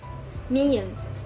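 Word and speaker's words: 미음: Miyam, pronounced as m, similar to the English m in man.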